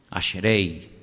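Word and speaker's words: אשרי: Ashrei.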